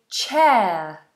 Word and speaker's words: chair: You might be sitting on a chair. Chair. chair. And that ch is a ch sound, okay? Not a shh sound. So, we have a nice explosion of air.